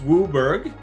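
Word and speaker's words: WUBRG: all five colors right wubber pronounced wooer is all five colors the letter stand for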